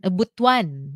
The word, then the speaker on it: Butuan: from Alma in Butuan Butuan is the right pronunciation Yeah How's the tourism